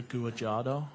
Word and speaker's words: Guajardo: Guajardo, I believe is how it's pronounced.